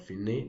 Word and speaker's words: fine: Al, it means to the, con means with, fine, well, it has the same spelling with fine in English language, but fine, that's the pronunciation, it means the end.